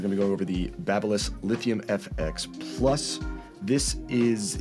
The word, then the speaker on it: Babyliss: I think we got a consensus that it's Babyliss, like Babylon, I think was the best comparison I heard.